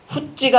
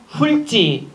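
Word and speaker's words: 훑지: 자, 27번 표준 발음을 올바르게 표기한 것은 널죽하다가 아니라 넙죽하다, 얍지가 아니라 얄지, 훗지가 아니라 훌지, 맑고 맞고요.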